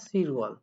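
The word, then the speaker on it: 칠월: আছে এখানে সাত আছে সাতে কি বলা হয় সিল এটা কি হবে ওয়াল তাহলে উচ্চারণটা হয় সির ওয়াল 10 এ কি বলা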